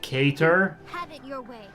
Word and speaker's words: Cater: we finally found on how her name is pronounced cater why not get their back machina it's okay